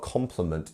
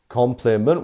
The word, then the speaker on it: compliment: So which part of compliment is our stressed syllable? Can you tell me? It's our first syllable, right? It's compliment. We have 3 and we have our mark here, So it's compliment. It's not compliment or compliment.